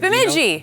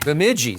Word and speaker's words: Bemidji: Bemidji. Bemidji.